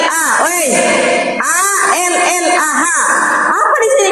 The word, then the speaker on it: Allah: l l a wi a l l a ha apa di sini kan bacanya Allah masa dibaca alah alah Dou lar kau maling